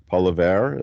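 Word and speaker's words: Poilievre: other choices Paul levere Pierre Paul of polavere is how you pronounce his last name or um of course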